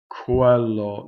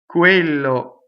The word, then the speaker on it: quello: Now Q-U is like K-W, right? You'll see K-W, right? But it's not the K-W of English. It's not Quello, not down there. It's Quello, right? So you're in the U position for the W, and you're in a K position for the Q, right? But you are you are in a closer to voiced position than in English.